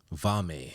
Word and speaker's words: Valme: this guy on um he goes by Nick vami yes sir right that's what pronounce the last name absolutely you did it